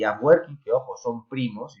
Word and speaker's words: Afwerki: como lo queramos escribir, la pronunciación sería Afwerki, más adecuada, crea una dictadura en la que las elecciones, pues bueno, no son muy necesarias.